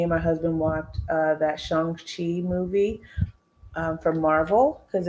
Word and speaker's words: Shang-Chi: I think I'm saying it right. It's like Sean, but with a G. Shang-Chi.